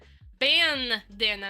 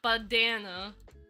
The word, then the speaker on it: bandana: Bandana, not badana. Not badana. Bandana.